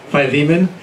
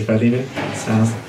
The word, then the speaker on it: Philemon: And Pastor Dave pointed out to me, last week, sometimes I pronounce things wrong, like Philemon. Usually I'd pronounce it Philemon, but last week I corrected myself and I would say Philemon.